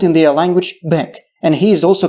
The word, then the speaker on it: Bek: he is also called Bak. The so-called title Bek is spelled only with two Arabic letters, Ba and Kaf. It means that the vowel between these two consonants can be any, so the Ukrainian Byk can be a valid version.